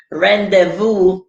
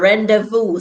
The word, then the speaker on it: rendezvous: however we pronounce it any silent z or silent z yes danny is rendezvous embarrassing i'm just looking a point all right standing sir rendezvous silent z of silence said if you're a